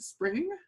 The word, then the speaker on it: SPRNG: now for parallel codes sprng they pronounce it spring is regarded as the